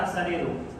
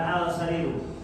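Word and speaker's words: السرير: as as asariru asariru Kenapa asariru bukan alsariru kemarin di Dar ketiga kita belajar tentang hukum Al kemarin Eng masuk Ya baik kenapa bacanya asariru bukan asariru asyamsiah nah di mana di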